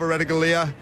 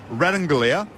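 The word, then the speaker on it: Ratugolea: Incidentally, Asava Radanglia is how he's been called a lot, but he has said recently the correct pronunciation of his surname is Radanglia, and that's how he would like to be called.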